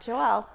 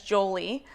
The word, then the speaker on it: Joele: out um but uh my dad's name is joel and so they added an e to the end of his name and got joelle um which was mispronounced because it only has one l um which was mispronounced my entire life as jolie um which is when